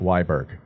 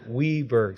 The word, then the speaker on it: Wiberg: Not Wiberg. Yeah, it's pronounced Wiberg.